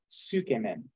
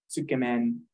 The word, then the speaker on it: tsukemen: very good oh and another one is uh tsukemen skam in uh it's spelled t-s-u-k-e-m-e-n t-s-u-k-e-m-e-n uh men means noodle you might see a lot of noodles uh like Ramen there means noodle tsukumen the men also means noodle it I'm not